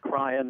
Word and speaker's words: Cryan: pronouncing his name correctly yeah cryan as in crying right he's a Democrat